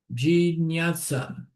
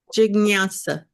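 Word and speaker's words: jijñāsā: Jinyasa. Ah, Jignasa. Jig. Jignasa.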